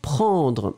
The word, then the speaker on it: prend: And then the verb prendre is the last thing that we were looking for. And it's conjugated, obviously, in the third person. So it's P-R-E-N-D. Hein? Remember, prend. You don't pronounce the final D.